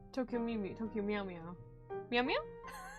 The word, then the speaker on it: Tokyo Mew Mew: Tokyo Meow Meow? Tokyo Mew Mew.